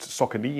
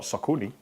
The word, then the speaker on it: Saucony: It's pronounced Saucony and not Saucony.